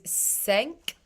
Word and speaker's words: sänk: The A umlaut is sänk. Sänk dina vita ving.